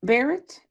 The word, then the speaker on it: Barrett: Dr. Bar Barrett, right? Barrett? I'm saying it correctly, and Yes. I, yep. Yes.